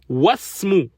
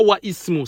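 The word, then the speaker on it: وَاسْمُ: Wasmu. On ne dit pas wa ismu. Ça c'est une erreur. Non. On dit wasmu. On passe du waw direct au sin.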